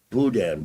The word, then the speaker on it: boudin: It's boudin balls. Making sure I knew the proper pronunciation.